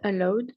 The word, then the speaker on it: allowed: Are not allowed to. Là, tu vois, typiquement, on a ED à la fin, mais on ne doit pas les prononcer.